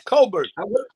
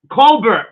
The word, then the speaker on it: Cobbert: man how's everything good you got my last name wrong it's cobbert cobbert see I I told